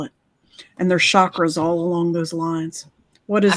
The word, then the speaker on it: chakra: But actually, it's chakra, like chocolate. It's a cha-cha-cha Mm.